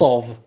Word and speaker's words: of: F, it is pronounced v. Lots of, kathir, lots of.